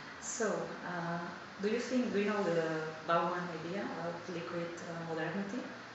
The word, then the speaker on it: Bauman: So, do you know the Bauman idea about liquid modernity? Bauman? No? Maybe I don't pronounce it correctly.